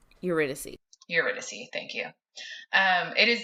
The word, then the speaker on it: Eurydice: refuse to pronounce. Eurydice.